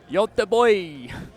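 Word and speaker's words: Göteborg: Yote boy. Is that? They taught me how to pronounce it when I was in Sweden.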